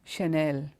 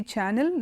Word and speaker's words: Chanel: popular brand and it's CH a and E l under an ounce channel it is Chanel Chanel okay so if you read that and say channel that that's going to be